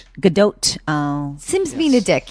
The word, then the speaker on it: Gadot: thought it was good i thought the t was silent and you're saying it's not yes interesting interesting i'm